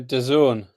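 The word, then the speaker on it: DAZN: Are you aware of the channel that's spelled D A Z N? Uh, Don. Oh, well, there you go. Yeah, Don. I didn't know was pronounced that.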